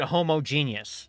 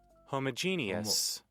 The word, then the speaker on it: homogeneous: pronounce homogenius thank you appreciate it yeah I pronounced it homogenius like me stuff on than I expected one thing that really sticks out to me is is Hold Up Wait Google translate time homogeneous homogeneous apparently that's right um according to google